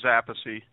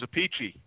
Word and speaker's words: Appice: I don't know but my father says apathy and I stuck with apathy and then when I started getting into business it got very confusing and then we have we have an older brother Frank who says a pachy oh really but but